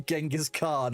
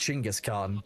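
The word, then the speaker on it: Genghis Khan: Called you Genghask Khan. Oh my god. Sorry. A I think it's pronounced Chingis Khan.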